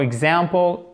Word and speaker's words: example: For example, court, accent tonique sur cette deuxième syllabe.